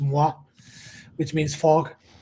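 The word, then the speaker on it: Mgła: us, but in Polish it's called it's it's pronounced MUA, which means fog.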